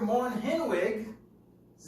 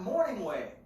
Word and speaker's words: Moore-Henwig: Mr. Moore-Henwig's name is Mr. Moore-Henwig. It's not Morningwig. Moore-Henwig.